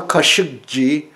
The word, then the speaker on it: Khashoggi: to talk about Jamal keshavjee his name my last name really Cara qu'ici is a Turkish word somehow mispronounced in Arabic even more mispronounced in 'english I cannot recognize Kashuk she means the